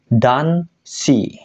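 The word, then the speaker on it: 男子: laki-laki kan ya minasang cara bacanya adalah dan she kanji anak dibaca si di sini bukan ko ya dan si yang artinya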